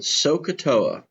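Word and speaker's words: SOH CAH TOA: this section there's an acronym we pronounce it soaa it's spelled s c a t a soaa it's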